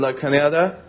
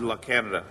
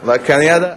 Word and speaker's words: La Cañada: I'm living in Pasadena, and I'm going to Flint Ridge Prep, which is a private school in La Cañada. Not La Canada. La Cañada.